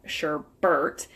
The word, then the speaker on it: sherbet: I always say, when I say sherbet, I'm always like, sherbet, from Sesame Street, but it's not sherbet, it's actually sherbet. There's no R at the end.